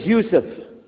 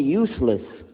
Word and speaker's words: Yousef: we'll work on itah my name is Yousef can you say Yousef he say Yousef you're very good I wish you'd teach my wife she keeps mispronouncing it she calls me useless alhamdulillah now how many